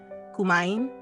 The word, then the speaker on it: kumain: sabi ni ba ituro kay Olivia ang tamang pagbigkas ng salita kumain kumain got it masayang sagot ni Olivia tila